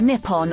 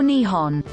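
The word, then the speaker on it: 日本: and video game Industries the name for Japan in Japanese is written using the kanji and pronounced Nippon or Nihon before it was adopted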